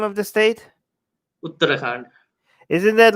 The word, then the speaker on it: Uttarakhand: The case was in that state, We, so that and this is state's with high how do you court, pronounce the name of the state? Uttarakhand.